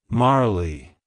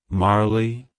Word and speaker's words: Marley: times it's pronounced as Marley Marley Marley to pronounce it correctly emphasize the first syllable Mar and pronounce the second syllable Lee as in flee like hello Marley goodbye